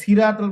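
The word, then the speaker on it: صراط: এটা সিরাতাল বললে হবে না, এটা সিরাত। সিরাত মানে হচ্ছে রাস্তা বা পথ। তাহলে সিরাতের জায়গায় যদি আপনি সিন উচ্চারণ করে দেন, তাহলে তো অক্ষর পরিবর্তন, অর্থ পরিবর্তন। তাহলে উচ্চারণটা ওভাবে আপনাকে করতে হবে, সদের সি, সদ জবর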